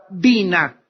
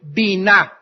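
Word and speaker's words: בינה: palabra intelcia en el hebreo es la palabra bina b grande y n a H bina otras veces simplemente se pronuncia en el hebreo Bin B yn inteligencia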